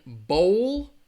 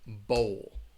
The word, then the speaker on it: bowl: And bowl is that long O, bowl.